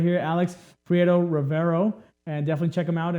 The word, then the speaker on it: Alex Prieto Rivero: We have Alex Prieto Rivero. I said it right. Alex Prieto Rivero.